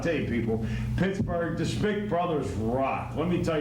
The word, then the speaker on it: Smick: Well, it's pronounced Schmick, but it's spelled Smick.